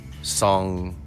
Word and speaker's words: Tseng: way yeah and it's very interesting because they pronounce his name song in the game it certainly looks like it's